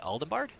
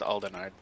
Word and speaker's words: Aldenard: region we call aorzia i don't think there's a bee in alden dynasty in aldebard i think it's a i think it's pronounced aldenard with no b i have never i